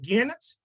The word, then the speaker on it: Gannet: Today, we're taking a trip to Scotland and we're finding the underwater, how am I pronouncing this, Ken? Is it Gannet?